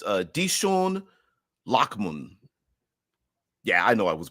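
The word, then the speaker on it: Dichen Lachman: wipe took effect, but her name is pronounced Dishon Lockman.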